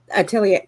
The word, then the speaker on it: atelier: german living in america i can't pronounce it atelier collection am i saying that right muted himself uh yeah i think it is art correct atelier say it again oh so i did say